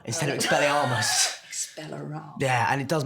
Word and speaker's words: Expelliarmus: People who should know better say Expelliarmus instead of Expelliarmus.